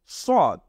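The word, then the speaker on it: ص: মনে রাখতে হবে যে সিন হলো চিকুন আর সদ হলো মোটা এটাকে বলা হয় সদ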